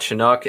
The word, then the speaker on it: Chinook: but if yam is we we didn't pronounce this right last time and I'm gonna try to do it now they've got chinook and Centennial College you still did it rough what is it it's Chinook NOK okay well son of